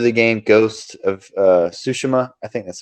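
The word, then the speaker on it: Tsushima: ever heard of the game Ghost of uh sushima I think that's how you say it yeah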